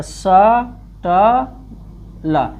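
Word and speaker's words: subtle: टी से पहले अगर बी आया साइलेंट हो रहेगा। तो स ट ल।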